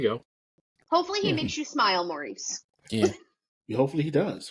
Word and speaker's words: Smael: It's actually spelled differently. It's Smael, but we pronounce they say it Smile. Interesting. It's Smile, like Smile, Smile.